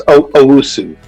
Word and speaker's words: Owusu: It's Owusu.